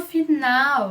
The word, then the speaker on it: final: No final das palavras, ele não vai ser pronunciado como U, ok?